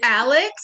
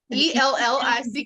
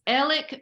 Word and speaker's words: Alec: His name is like totally not how it's spelled. And is it Alex? Is it Alec? Ellick? I keep seeing that. I'm like, yeah, it's Alec Murdoch.